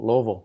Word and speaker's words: Louisville: Louisville. Lov.